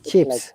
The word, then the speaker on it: chips: use of the chips yes chips not cheap okay now we have